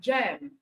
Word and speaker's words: gem: Okay, so when G comes before EIY, you pronounce as J. All right, as the case of giant, GI, as the case of gem, GE, as the case of gentle, GE, as the case of G, GY.